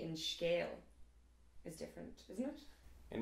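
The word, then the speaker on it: scéal: So scale, that's E fada A. E fada A in Munster Irish is pronounced E. So for example, scale, and also the Irish word for 100.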